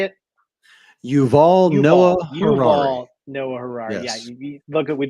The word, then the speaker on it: Yuval Noah Harari: You guys, if you haven't heard of Noval Harari, is it how you say it? Yuval Noah Harari.